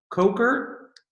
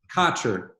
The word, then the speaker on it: Kocher: on January 15th with Chuck Coker, or Chuck Kocher, actually. Kocher. I always mispronounce that.